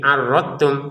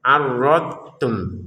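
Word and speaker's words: أَرَدْتُمْ: atau dotnya dimasukkan ke ta menjadi arattum. Salah juga. Jadi kesalahan pertama dotnya tidak dipantulkan menjadi arrotum. Yang kedua dotnya dimasukin ke ta ya adottum salah juga. Maka ini bagaimana cara bacanya? Dnya disempurnakan arrod kemudian tum. Tapi jangan ada jeda ya. Arrod tum.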